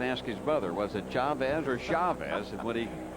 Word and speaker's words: Chavez: hitting has improved dramatically since he became Chavez instead of Chavez keep it Chavez keep it Chavez you've